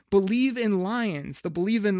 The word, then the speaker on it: Bleav: Before I answer this good question, I'm going to tell people you can check out Believe in Lions. That's spelled BLEAV in Lions podcast.